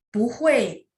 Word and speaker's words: 不会: 不会 dia bacanya 2, 4. Karena hui 4, makanya punya dibaca 2. Itu khusus untuk pu.